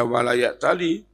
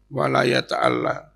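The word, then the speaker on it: وَلَا يَتَأَلَّ: Imam Hasan wala yataalla bukan membaca W Yali tapi membacanya Imam Hasan wala yataalla yang dari ala Yi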